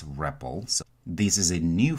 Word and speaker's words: REPL: You will hear people pronounce this REPL.